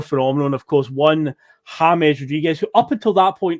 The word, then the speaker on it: James: But no, it turns out that is how it's pronounced, James. It's not James Rodriguez, but he was at Monaco at this point, I believe.